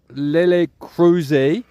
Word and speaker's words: Lélex Crozet: Today you find me in a resort called Lélex Crozet. Be careful about the pronunciations here because there's lots of silent X's and silent Z's.